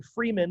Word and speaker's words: Freeman: Again, Freeman, like free man, pedia, like Wikipedia, just the last 2 or 3 syllables.